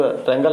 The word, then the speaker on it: wrangle: डब्लू रैंगल है, रैंगल में लड़ाई होता है, WRANGLE, ठीक है ना। रैंगल होता है, इसमें डब्लू साइलेंट रहता है।